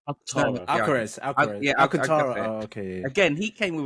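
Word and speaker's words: Alcântara: Yeah, Alcantara.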